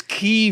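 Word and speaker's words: Kyiv: into into kiev and i call it by the way because that's the ukrainian pronunciation i'm never calling it kiev again that's the english language version it's key we're going to have this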